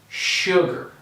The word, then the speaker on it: sugar: things in this word first of all this s sounds like an sh like and this a is more like me so i have my er and i'm going to say sugar okay one more time